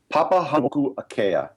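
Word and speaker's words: Papahānaumokuākea: Yeah, and I had to check the pronunciation before the show started. Papahanau'akea, which is basically the outer Hawaiian Islands.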